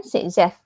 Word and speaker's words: Saytzeff: Di peraturan ini dinamakan Sitzeff. Okay, take note Sitzeff rule. Tengok ejaan dia.